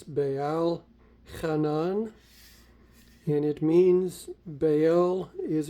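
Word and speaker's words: בעל חנן: And it would be pronounced as Baal Hanan.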